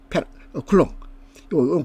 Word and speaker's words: 쿨롱: 1.5 1.5 1.5 마이크로 쿨롱요 쿨롱이라고 읽어요. 쿨롱 1.5마이크로 클롱이 되겠습니다.